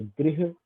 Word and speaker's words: गृह: थोड़ा अलग है और गृह जो है वो थोड़ा सा अलग है। गृह इसमें थोड़ी सी ऊ की साथ में उच्चारण भी होता है, जो कृष्ण में हम बोलते हैं।